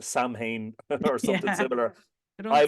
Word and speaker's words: Samhain: Samhain is the one, if any of your listeners are confused, you may have heard that pronounced Samhain or something Yeah.